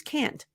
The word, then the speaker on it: can't: do I also reduce can't nope can't is never reduced for the American pronunciation we use the nasal a and what I mean